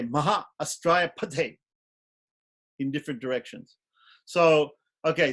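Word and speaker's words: फट्: Kavachaya Hum, and Put, which some people wrongly pronounce as Put, Pate. You can say Pate because that T at the end, we need to make it, emphasize it so we can say Pate.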